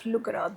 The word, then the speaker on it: Lugra: It's just that instead of d, we pronounce it as r in our dialect. We have our own dialect. So that's how it becomes Lugra.